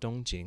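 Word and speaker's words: 东京: southern capital and even tokyo in chinese is pronounced dongjing which means eastern capital and so xi jing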